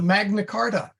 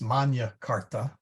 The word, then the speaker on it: Magna Carta: be great uh the Magna Carta unfortunately that's pronounced as if it were an English word and it is in fact actually Latin uh it should really be pronounced Manya Carta uh and it literally